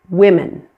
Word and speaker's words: women: The word women, that O in women is pronounced as a short I.